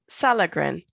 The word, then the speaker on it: Sallegren: talented would you help me with the pronunciation of your last name solitain solitude salagran salad okay great sallegren so happy to